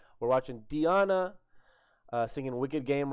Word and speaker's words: Diana: It's not Diana. It's Diana. So I'm going to get it right. We're watching Diana singing Wicked Game right here.